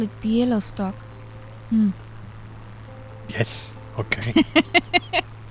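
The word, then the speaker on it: Białystok: new uh you mean bialy stock yep yup that's easy just pronounce it as it is written i call it pielo stock yes okay it's still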